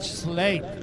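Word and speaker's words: Sleap: with another pronunciation problem at sleep eritron although it's actually the in Shropshire they call it slay and he runs the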